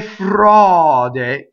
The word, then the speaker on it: frode: Now, here we have a stressed O. And then notice that the unstressed is always going to be closed. So the E is closed.